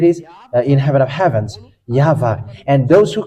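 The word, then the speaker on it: יהוה: And it's the book of Torah, which says that we call it YAHVAH, and that's how we read it in heaven of heavens. YAHVAH.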